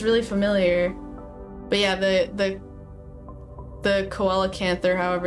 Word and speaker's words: coelacanth: But yeah, the coelacanth, however it's pronounced, is my favorite fish because it's big.